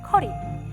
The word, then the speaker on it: 커리: 찾아볼 수 있는데요 한국식 카레와 비슷한 듯 다른 현지 스타일 카 앵 사실 카레는 나라마다 먹는 스타일이 정말로 다양한 음식입니다 카레 이 원래 발음은 커리 우리가 부르는 일은 카레는 쿼리의 일본식 발음 이에요 우리나라의 커리가 처음으로 소개된